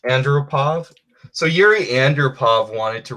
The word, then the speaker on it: Andropov: Andropov.